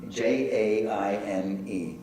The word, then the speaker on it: Jaime: How do you pronounce Jaime? Jaime, J-A-I-M-E, Jaime.